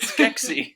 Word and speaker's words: Skeksis: That's how you say it, Skeksis. Skeksis. It's not sexy. He's Skeksis.